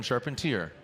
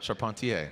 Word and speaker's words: Charpentier: know if you saw he says i'm rome sharpened tear not charpentier so just clarification on